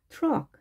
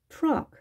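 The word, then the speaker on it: truck: 자, 트, 어크. 트럭, 트럭. 트를 한 다음에, 어. 자, 혀를 구부려서 해야 되겠죠?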